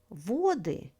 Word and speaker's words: воды: Воды is the plural form of the word вода. Stress falls on the first syllable.